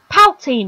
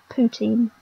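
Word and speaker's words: poutine: a bit like that one time I said paltin instead of poutin I apologize to all Canadians I offended in that I have pronounced words wrong so much yeah I those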